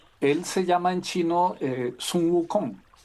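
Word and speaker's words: 孫悟空: Él se llama en chino Sun Wukong. Y resulta que los japoneses lo copiaron en el siglo XX, eh, y se pronuncia en japonés Son Goku y es el famoso Goku de Dragon Ball Z.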